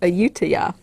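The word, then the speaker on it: Ayutthaya: story from thailand it's from a place called ayutiya it's called yeah and i know that's right because i googled it at a pronunciation and i listened to the little thing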